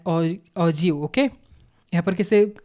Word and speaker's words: ogive: The term ऑग्यू is pronounce as ऑजिव.